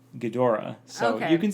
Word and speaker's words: Ghidorah: crowns Aggie drug but the Japanese pronounce it Ghidorah so you can say